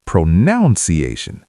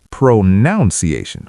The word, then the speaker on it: pronunciation: Many people say pronunciation like pronunciation with noun in the middle. I might say that many people do but it's wrong. It's pronunciation with none, not noun.